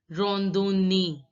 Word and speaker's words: randonnée: AN is to be pronounced as on. O is to be pronounced as O. And randonnée. Don't get confused that ON is pronounced as the nasal sound O. But here it is to be pronounced, O is to be pronounced as separate because there is double N.